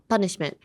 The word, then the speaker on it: punishment: So, punishment. So, um pretend you're you're calling your dad papa. Stop on the first syllable.